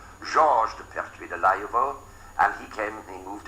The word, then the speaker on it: Pertwee: was one Protestant, a man called Georges de Pertwee de Layevo, and he moved into Suffolk, and